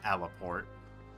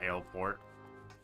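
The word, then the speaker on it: Aleport: I remember when I first started this game, I constantly pronounced that alaport instead of alpport and then uh and then I reached wineport and I realized uh what I had been doing.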